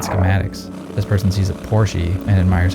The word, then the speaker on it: Porsche: A romantic mind is someone who sees a Porsche or Porsche if you pronounce it correctly because it's the German word for horsey.